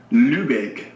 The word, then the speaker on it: Lübeck: Now pronounce that city again. Lübeck.